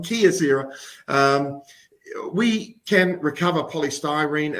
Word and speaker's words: Kyocera: just like it from Key from Kyocera nope sorry I said it I said it wrong Kia Sarah um we can recover